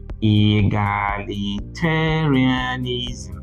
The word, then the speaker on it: egalitarianism: How many syllables are here? Egalitarianism. 7 syllables. Which of them is the loudest? T, T-A. But there's another loud syllable, ga. However, this syllable is not as loud as this, but it is louder than the rest apart from TA. So we don't say egalitarianism. No, we say egalitarianism.